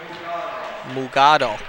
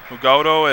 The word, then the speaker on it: Mugado: Mugado, I believe, would be the correct pronunciation. Yep, Mugado, and Jamak checking into the game.